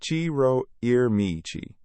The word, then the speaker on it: Ciro Immiti: Like and share and don't forget to follow the creator, Ciro Immiti, pronounced Ciro Immiti, on Instagram at Spartaco_94_.